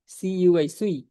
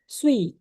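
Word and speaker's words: Cui: না প্রথম কথা হচ্ছে উনার নাম হচ্ছে সুই সি ইউইি ইউ আই দিয়ে কুই বা চুই বুঝায় না সি ইউই দিয়ে চাইনিজ এটার উচ্চারণ হয় হচ্ছে সুই ঠিক আছে সুই তো যারা হচ্ছেযে ময়মনসিংহের আঞ্চলিক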